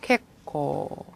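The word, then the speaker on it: 決行: 캣코.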